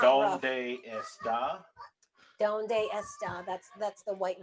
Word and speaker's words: dónde está: No, it's not está. ¿Dónde está? Remember where the accent is located.